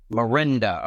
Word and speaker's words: Miranda: Miranda. Okay, cool. Yep. I like to know pronounce names, because there's some names that I say that has that's not even how they pronounce it.